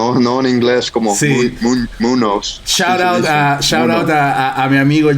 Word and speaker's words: Muñoz: Estoy con don Johnny Muñoz.